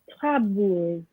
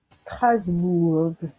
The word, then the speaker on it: Strasbourg: So it's you have this ST, Strasbourg.